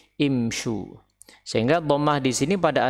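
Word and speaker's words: امشوا: Karena jamak yang diperintah imshiu, imshiu, dan imshiu ini diubah menjadi imshu, diucapkan menjadi imshu.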